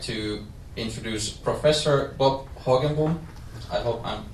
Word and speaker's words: Hoogenboom: I would like to introduce Professor Bob Hoogenboom. I hope I'm pronouncing it correctly. Hoogenboom.